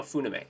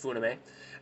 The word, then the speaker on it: Funime: No, Funime is how I pronounce it. Pronounced Funime.